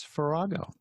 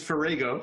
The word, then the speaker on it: Farrago: Farrago. Yeah, actually it's Farrago. How's that? But that's Farrago.